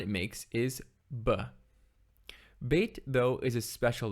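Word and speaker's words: ב: a began kapha letter bhagat kapha letters are special because they can be pronounced in one of two ways either as ba or the way you can tell how to pronounce it is whether it has a dot in it bait with a dot is pronounced ba or hard and bait without a dot is pronounced v or soft this dot is called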